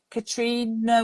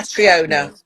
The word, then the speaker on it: Catriona: I can never say her name. Katrina Ward, is it? Katrina Ward? Yeah, Catriona Catriona, Ward. Catriona. thank you.